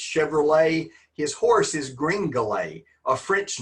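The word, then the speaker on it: Gringolet: It is Greenlay, and it and it's spelled G R I N G O L E T. kind of like Chevrolet is not pronounced Chevrolet. It's Chevrolet. His horse is Greenale, a French name.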